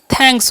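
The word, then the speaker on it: thanks: तो क्या हो गया, थैंक्स हो गया। ठीक है, तो इसे थैंक्स नहीं पढ़ना, यहाँ पर TH का उच्चारण थ ही करना है।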